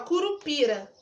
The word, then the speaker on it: curupira: Curupira! Tá vendo que o pi, eu fiquei um tempão falando? Então, pi é a minha sílaba tônica.